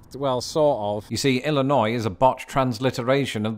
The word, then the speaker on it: Illinois: would agree with him of course the word Illinois is spelled with an S but then so is debris and do you know